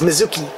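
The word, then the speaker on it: Mitsuki: the third member in their team which is Mizuki I always have to double check how to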